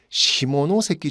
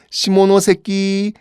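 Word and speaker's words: 下関: 조약이 있는데 그 조약을 시모노세키 조약이라고 합니다 발음 조심하세요 발음 조심하세요 시모노세키 시모노세키 조약이에요 자이 내용을 보면요 어떤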